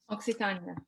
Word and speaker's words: Occitania: And she composes and sings the troubadour style songs and gives lectures on the culture of medieval, am I saying it right, Occitania. Occitania, yes.